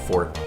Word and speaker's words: forte: But yeah, drawing animals is not my forte. And yes, it is pronounced fort.